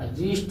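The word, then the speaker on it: wrist: जैसे देखिए डब्लू आर ओ एन जी का हो जाएगा रॉन्ग हो जाएगा, से राइट हो जाएगा, राइट हो जाएगा, रिस्ट हो जाएगा। एक्स वाई जेड साइलेंट नहीं होता है, एक्स वाई जेड साइलेंट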